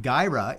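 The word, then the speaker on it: Guyra: Sue K says, pronounced Gyra.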